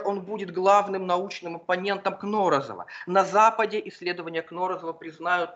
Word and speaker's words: Кнорозов: Во всех справочниках его фамилия почему-то приводится с ударением Кнорозов, хотя на слуху больше другой вариант, такой вот парадокс, бывающий с редкими фамилиями.